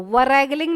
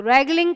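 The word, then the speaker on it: wrangling: है, रैगलिंग बोलेंगे इसको, वरैगलिंग नहीं बोलेंगे, रैगलिंग, रे से स्टार्ट होगा इसका साउंड। ठीक है, डब्ल्यू के बाद में कभी भी आर आ जाए तो रे से ही स्टार्ट होगा इसका प्रोनाउंसिएशन।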